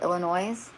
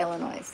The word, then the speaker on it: Illinois: IL, is that, oh, I can't even pronounce it, Illinois? Did I say that right? Yeah, autocorrect. I have a new phone, and the autocorrect does not speak my language. Okay, yeah, Illinois.